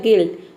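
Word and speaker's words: guilt: देख सकते हैं कि गिल्ट में यू के बाद आई आया है तो यहां पे भी आई को हम प्रोनाउंस करेंगे ई हो जाएगा गिल्ट और यू को यहां पे प्रोनाउंस नहीं करेंगे गाइड में भी देखिए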